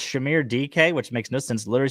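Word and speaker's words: Dike: It looks like it says dyke, but it's pronounced DK. So it's Shamir DK, which makes no sense.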